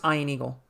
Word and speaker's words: Ian Eagle: Yeah, it's pronounced Ian Eagle.